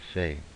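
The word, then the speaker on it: פ: will be the pay so the doish in the middle it will have the pronunciation equivalent to the English P without the doish it is the Fay and the Fay is the equivalent of the English F and as a general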